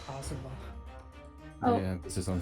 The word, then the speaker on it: Kazuma: Why did you take Kasuma-sama's life? It's Kazuma.